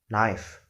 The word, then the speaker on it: knife: In the past, we would be able to pronounce it as knife, but today we should pronounce it as knife, where we omit the sound key.